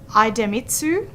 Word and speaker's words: Idemitsu: plant in Townsville the company names so I pronounce them correctly or try to idemitsu IDU ID mitsu thank you very much and